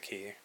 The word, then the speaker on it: Chi: Chi. I know some people pronounce it Ki.